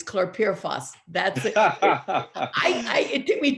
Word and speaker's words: chlorpyrifos: It's chlorpyrifos. That's it. It took me 2 years to learn how to pronounce it.